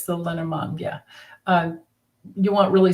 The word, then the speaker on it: Lenormand: yeah there it's a it's a lenamon deck or it looks like in English lenormand if you want to spell it out there's tons of